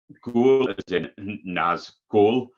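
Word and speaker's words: Nazghul: it's gone so so that's called um Naz goal but it's spelled g-h-u-l um the first track's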